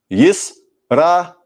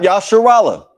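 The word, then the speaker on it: ישראל: Put it together. Yisrael. Yisrael. Yisrael. Not Yasharallah. Not Yasharallah. Yisrael.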